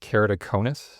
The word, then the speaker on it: keratoconus: So kerido in the front is the cornea and then conis is like a cone.